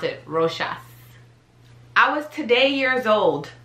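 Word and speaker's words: Rochas: one's easy so yes that is how you pronounce it roshas i was today years old when i knew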